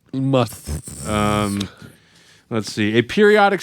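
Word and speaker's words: musth: finally the word must i'm not pronouncing must like mike tyson or anything the word is must must um let's see a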